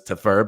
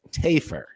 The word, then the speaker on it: Tafur: him Vic Tafur, which, based on the spelling of his name, Tafur, we wrongly inferred, nailed it, that the pronunciation of the name was Tafur, but it is, in fact, as was corrected by Vic himself in a private message after the show, Tafur. Get it right or pay the price.